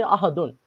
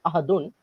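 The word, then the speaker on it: أحد: Okay, that's mean if you do not know the rules, then you will say ahadun, because it is written as ahadun, but we don't pronounce that ahadun.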